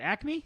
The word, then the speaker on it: Acme: Is it Acme?